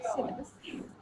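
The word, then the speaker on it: cedar: Redwood, सेप्रूस pine, फिर southern pine, western red सिडर्स। Ma'am ये क्या प्रोनाउंस करेंगे?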